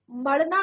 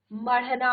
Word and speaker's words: मढ़ना: भी हम करते हैं मढ़ना मड़ना मड़ना नहीं होता मढ़ना होता है ़ ठीक है मढ़ना